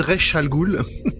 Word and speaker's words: Ra's al Ghul: vais prononcer un joli ra's al ghul jeunesse alternèrent al ghul en anglais cool ils disent rech al ghul d'accord rech al ghul